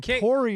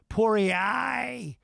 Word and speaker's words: Poirier: He Dustin Poirier.